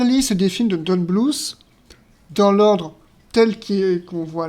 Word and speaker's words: Bluth: Moi, je disais Don Bluth, mais c'est Don Bluth. Bon, écoute, hein, c'est comme ça que ça se prononce.